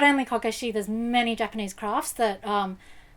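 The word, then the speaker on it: こけし: radio and it's because the term kokeshi you can phonetically you can also hear that as core is in child and cashier which is arrays so um a lot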